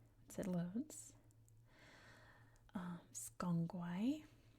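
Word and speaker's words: SGang Gwaay: The other site that I mentioned is pronounced, once it loads, Skongwai, like that.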